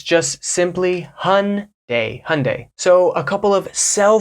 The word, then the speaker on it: Hyundai: we have the Korean the South Korean car company Hyundai I'm not saying it exactly the way a South Korean person would say it closest pronunciation in English would be Hyundai and I've heard people in America say Hyundai hyund Hyundai something like this trying to get trying